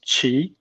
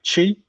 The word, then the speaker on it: Qi: My Chinese name is Qi. So CHI, Qi. But we have different tones in Chinese. We have 4 different tones. And my name is actually the second tone. So it goes up.